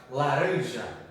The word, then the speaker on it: laranja: A sílaba tônica tem que ser ali no RAM para ficar certo, né?